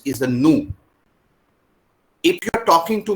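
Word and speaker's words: nous: We don't pronounce the last letter. So not noos is a nu.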